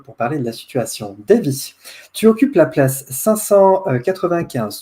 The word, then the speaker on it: Davy: Davy, bonsoir. Bonsoir, on prononce à l'anglo-saxonne Davy.